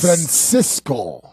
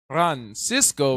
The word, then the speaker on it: Francisco: Francisco. Friend. You got to say it right. Francisco Not Vera. Francisco. Francisco. Right. That's a little bit. Francisco. There you go.